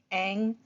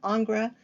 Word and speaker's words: Ingres: Again, sometimes it's pronounced Ingres, sometimes it's pronounced Ang, but it is a classical or more traditional or more academic artist. And Le Violin of Ingres was 1924, and this is kind of a manipulated photograph.